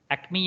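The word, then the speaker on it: Acme: सर य क्या spelling इसका प्रोनंसिएशन क्या होगा एमी सेल्स हा यामी क्या बोलेंगे सर इसको एकमी या एमी क्या बोलेंगे एकमी एकमे ओके ठीक है यह अंग्रेज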